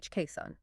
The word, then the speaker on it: coxswain: And coxswain is spelled cox s w a i n, but it's pronounced khakson.